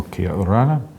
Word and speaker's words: kia orana: But Cook Island Māori often has extra syllables, and it's a slightly softer sounding language. Yeah, so yes. it's, in Māori you'd say kia ora, we say kia ora ana.